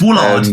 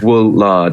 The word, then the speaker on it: Woolard: Well, it's Woolard, just with 2 O's and 2 L's, isn't it? How you'd think it'd be spelled. Yeah. Wool lard, sheep fat.